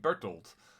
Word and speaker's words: Bertolt: me introduce you to bertolt this is a dutch name which is why i pronounce it that way a man of great